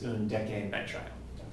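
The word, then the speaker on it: undecanenitrile: But remember that when the suffix starts with a consonant, you don't use an, you use an. So for pronunciability, this is undecan nitrile.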